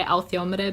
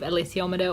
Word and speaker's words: alethiometer: I say althiometer, but it doesn't look like it's pronounced that way.